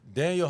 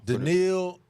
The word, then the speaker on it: Danielle: I'm gonna have to go Daniel Hunter. It's not a Danielle Hunter. Danielle. I'm sorry, I apologize. I butchered your name, man.